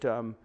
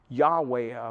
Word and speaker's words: Yahweh: and that's why it's seen as yhwh we pronounce it yahweh yahweh officially but with that word is translated jehovah